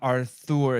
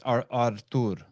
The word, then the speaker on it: Artur: But the H is silent. It's not Arthur, it's Artur.